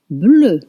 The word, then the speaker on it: bleu: Bleu, bleu, blue, blue, bleu.